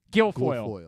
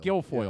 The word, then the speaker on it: Guilfoyle: Can't pronounce her last Kimberly name. Guilfoyle. Guilfoyle.